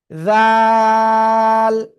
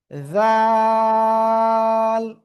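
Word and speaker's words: ذال: এরপরে আমরা যে অক্ষর শিখতে যাচ্ছি, সে অক্ষরে অক্ষরটা জিহ্বার আগা সামনের উপরে 2 দাঁতের আগার সাথে লাগাবেন, লাগিয়ে অক্ষরটা উচ্চারণ করতে হবে নরম করে, 1 2 3 আলিফ টেনে পড়তে হবে। জাল জাল।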